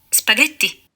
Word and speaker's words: spaghetti: Vuoi dire spaghetti? Ecco, vedi, com'è la sua divisione in sillabe? Spaghetti. La G è pronunciata G perché c'è l'H fra lei e la E.